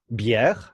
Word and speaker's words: bière: Bière.